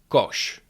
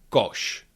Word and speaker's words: koš: Tashka that's a bag kosh kosh that is a basket with hatche is pronounced ch like in the English words check